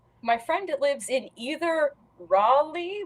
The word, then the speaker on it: Raleigh: friend lives in either Raleigh which I always pronounced in my head as Ry or Charlotte one of